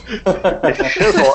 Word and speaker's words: shizzle: Shizzle, and it rhymes with drizzle.